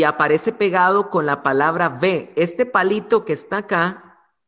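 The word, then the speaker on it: וְ: pegado con la palabra ve este palito que está acá se pronuncia en hebreo ve y significa simplemente en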